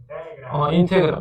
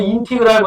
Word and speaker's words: 인테그랄: 읽을 때는 뭐라고 읽는다? 인테그랄, 또는 인티그랄 이렇게 읽는데, 인테그랄이나 인티그랄이나 똑같이 받아들이면 됩니다.